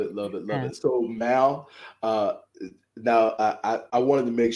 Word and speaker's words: Mal: So it is Mal the Mover.